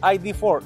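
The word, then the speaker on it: ID.4: Lo van a pronunciar mal. Es ID4.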